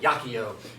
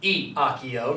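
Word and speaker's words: iacio: Things like Yakio, in which it would be, of course, not Iakio, not 4 syllables, but 3. So be aware of that.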